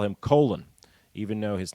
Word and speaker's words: Colin: demanded people call him colon even though his name is spelled exactly the same as the name colin c-o-l-i-n uh he stuck with his jamaican parents pronunciation of his name i'm sure in the